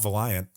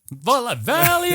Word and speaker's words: Valiant: Not Valiant. Valiant.